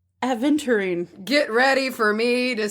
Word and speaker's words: aventurine: It's not adventurine. It's aventurine.